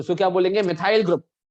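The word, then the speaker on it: methyl: तो इट is pronounced as मिथाइल।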